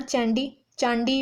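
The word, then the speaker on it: Chandy: ए है लीला सेठ और बी है अन्ना चांडी भी कह सकते हैं और इन्हें चैंडी भी कहते, प्रोनाउंसिएशन डिफरेंशिएट कर सकती है।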